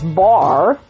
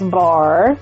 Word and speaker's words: Barre: So this little guy's name is Barre. He is spelled like the ballet Barre, B-A-R-R-E.